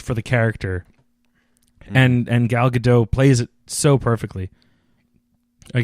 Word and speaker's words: Gal Gadot: the character and and gal gadot plays it so perfectly I guess it's gal gadot I've always got it right the first no I've always heard you pronounce the T oh you do yes